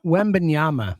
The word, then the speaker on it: Wembanyama: Wembanyama. What'd I say? You said Wembanyama or something? Wembanyama. No. What do I call him? Wemby. It's actually pretty easy Wemby. to say. Wembyana. Yeah. Coach K. Wembanyama.